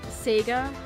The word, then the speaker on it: Seiga: And yeah, and then one of the characters in Toho is named Seiga Kaku. Not Sega as in Sega, it's pronounced the same but it's spelled different.